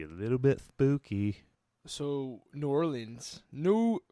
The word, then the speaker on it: New Orleans: So New Orleans, how do you say it as a local? New Orleans. New Orleans. Is that okay? New Orleans. New Orleans. Move your tongue less.